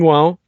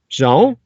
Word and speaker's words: João: I believe his name is pronounced João, Joao.